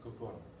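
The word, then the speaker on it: 心: This first one is a Japanese character pronounced kokoro.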